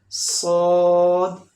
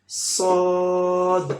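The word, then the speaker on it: ص: Next letter सौद. सौद fat sound letter भी है और सीटी वाला भी है. सौद is heavy sound letter, fat sound letter and whistle sound like सौद. Make long little. Sod.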